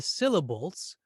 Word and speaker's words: syllable: So this little exercise teaches us that it's the first syllable in syllable that gets that extra accent or that extra stress, not syllable or syllable.